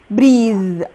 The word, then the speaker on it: breathe: I hate to breathe، هو الفرق بس بين الverb والnoun ان انا في الverb بقاد e، وفي النطق بدل ما هيبقى breath هيبقى ايه؟ breath هيبقى breathe.